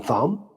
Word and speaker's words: thumb: We mentioned some like the K and knock, the U W in ring, and the B in thumb, the P in pneumonia.